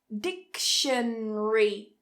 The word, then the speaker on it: dictionary: So if we take the word dictionary, 4 syllables, dictionary, but if we cut that syllable and follow this rule, dictionary, dictionary, we can cut it and just say 3 syllables.